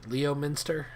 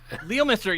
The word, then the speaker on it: Leominster: before right here oh my favorite massachusetts town is leominster because it's spelled leominster leomister yep anyways um so more